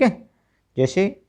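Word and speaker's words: hedge: Silent रहता है। ठीक है? जैसे वो आपके सामने शब्द है।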